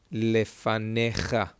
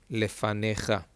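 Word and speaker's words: לְפָנֶיךָ: It's a fe, it's got no dot. Fe, it's got no dot. Lefa, lefa, ne. And over here, no vowel underneath. And therefore, it is a silent letter. Lefanecha. Lefanecha.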